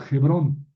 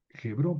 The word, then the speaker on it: Hebrón: Murió en Kiriat Arbá, que es Jebrón. Hebrón o Hebrón, lo mismo. Eh, más bien hay que pronunciar Hebrón porque esa h se pronuncia.